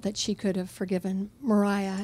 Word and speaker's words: Maria: she could have forgiven Mariah is how they always pronounce her name by the way no one doesn't know if you're just reading it um I think I